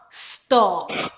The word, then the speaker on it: stalk: St-ok, stalk. W-ok, walk. S-a-mon, salmon. Or with some accent, they actually pronounce the L, salmon.